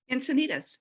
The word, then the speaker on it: Encinitas: jill ash from i don't know how to pronounce that jill is it encinitas am i saying that right encinitas that's right all right class of 78 all